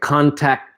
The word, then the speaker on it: contact: Now you notice how I combine some of the words like contact tracing. Okay, the second T in contact, I almost don't say it because there's another T here.